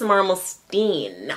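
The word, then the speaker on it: Marmelstein: lorence over the song Miss maralen Miss Marlin I don't know how you say it I should have looked up let me look up how that song goes actually miss marstein miss marstein I looked it up it's Miss marstein look how imperfectionist that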